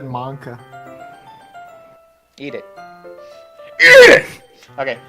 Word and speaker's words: manga: But if she's not used to sharing her favorite manga with her friends, I can understand why. Yes, I say manga. That's how you're supposed to fucking pronounce it. No, you said manka.